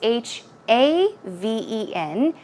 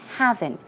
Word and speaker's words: haven: not HEA ven its H a ven and it's pronounced haven not having safe haven is kind